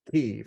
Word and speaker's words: Kyiv: cities, I used to have another way of pronouncing them. Now we have to learn it's Kyiv and Mariupol.